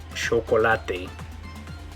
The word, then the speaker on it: chocolate: musho or this word instead of saying chocolate they might say it like chocolatte okay or this word